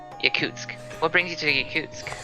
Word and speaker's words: Yakutsk: Yakuz. How do you pronounce that? Yakutsk.